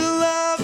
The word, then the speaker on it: Luv: I have to say it like that because if not, people always thinking it's L-O-V-E, but it's actually L-U-V.